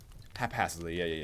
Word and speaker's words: haphazardly: Haphazardly. Yeah. Makes sense. Because it's hazard and then haphazardly.